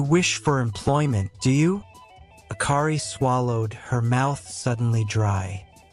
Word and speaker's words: Akari: "My name is Akari," she said, remembering Kamaji's warning and Haku's. She emphasized the ka syllable, clinging to it like a lifeline.